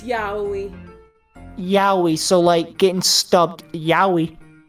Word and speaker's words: yaoi: Or yaoi, I never know how to pronounce that. It's yaoi.